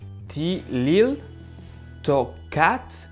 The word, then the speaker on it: Tliltocatl: hand with this so the pronunciation goes like this i'm going to read i'm going to repeat it again ti lil toe which means black spider in in mayan language or inaudible mexican words